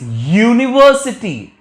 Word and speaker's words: university: Here the sound starts with year, but here it sounds with a.